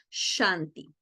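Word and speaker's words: शान्ति: tenemos claro entonces que nuestra s es con tilde una fricativa simil que se pronuncia shanti cierto así que chanti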